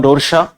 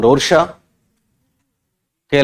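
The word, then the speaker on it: Rorschach: Switzerland के लोगों के टी साइलेंट रहते हैं। क्या बोलो, क्या बताऊं? हरमन रोरशा लिखा है, रोरशा। तो ये परीक्षा में रोरशाक भी आता है, रोरशा भी आता है, ठीक है ना? जैसे पियाजेट में टी साइलेंट था, इनका कै साइलेंट करते हैं, रोरशा कर दो आप, खाली चलेगा। हरमन रोरशा।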